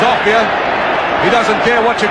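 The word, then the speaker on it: Offiah: They call him a fire because it rhymes with chariots. His real name is Offia.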